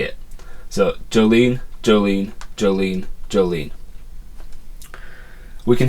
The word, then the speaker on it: Jolene: just say it so Jolene Jolene Jolene Jolene we can hear that the emphasis is on lean and not on J it's not Jolene it's Jolene that's just the way you say the name so the J the